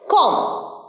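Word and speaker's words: comb: হয় না উদাহরণ হচ্ছে কম নাম এরকম বিগ প্লামার এম বি থাকলে বি টা উচ্চারণ হয় না এটার সঠিক উচ্চারণ কম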